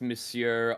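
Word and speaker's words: monsieur: makes you feel better I did not know that it was pronounced missure until we did Three Musketeers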